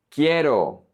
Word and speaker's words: quiero: Quiero, quiero. I want. The U is silent.